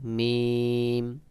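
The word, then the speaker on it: ميم: যেমন লাম তারপরে রয়েছে মিম মিম মিম মিম দুই ঠোঁটের শুকনা অংশ হইতে উচ্চারণ হয় একটু চাপ দিয়ে দুই ঠোঁটের শুকনা অংশ একটু চাপ দিয়ে উচ্চারণ করবেন মিমের সহি উচ্চারণ হবে যেমন মিম মিম তারপরে রয়েছে নুন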